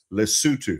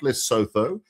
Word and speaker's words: Lesotho: It's called, and let me help you pronounce it for those who don't know, Lesotho, not Lesotho.